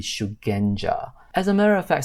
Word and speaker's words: Shugenja: because it seems like Shukenja is actually incorrect. The correct word should be Shugenja.